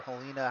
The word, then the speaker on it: Helena: Helena, Montana. Helena. Well, you know what? When I said it the first time, I said either Helena or Helena, however you want to pronounce it.